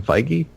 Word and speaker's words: Feige: they do use, like, Kevin Feige, I think is how you pronounce his last name. Yeah, Kevin Feige.